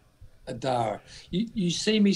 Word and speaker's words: Adar: Adar.